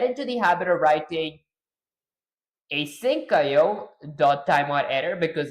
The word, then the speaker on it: asyncio: It's async io and IO is pronounced separately.